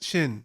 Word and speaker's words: Shin: It's Shin. Shin. Shin, It's there like you- it's one syllable.